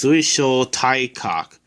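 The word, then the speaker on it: 水晶体核: The first symbol is sui. By itself, it's pronounced mizu and means water, but in this word, it's pronounced sui. The second letter is sho. The third letter is tai. By itself, it's pronounced karada and means body. But in this word, it's pronounced tai. The fourth letter is kak, and it means nucleus.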